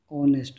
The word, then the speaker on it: honest: So next condition is before words beginning with beginning with a silent vowel sound or silent h kar do. silent H. For example, R and R. Okay, clear? An honest man.